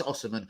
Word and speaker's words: Osimhen: How do you actually say it? Yeah, Osimhen, first name Victor. Yeah, that's it's spelled with an O. Look, I've just looked at it. It's Osimhen. Yeah, it's Osimhen.